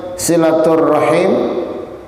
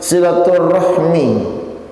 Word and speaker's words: silaturrahim: Di dalam istilah ini sering kita dengarkan istilah, ada yang bilang silaturrahim, atau ada lagi yang bilang silaturrahmi. Itu biasanya pengucapannya kalau di dalam bahasa Arab terdapat dua kata yang digabung menjadi satu.